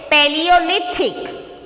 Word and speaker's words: Paleolithic: So it's just how to pronounce this? Paleolithic.